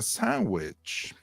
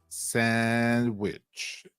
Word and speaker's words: sandwich: The word sandwich is pronounced sandwich in American English. So the is not pronounced in natural speech. So drop the D.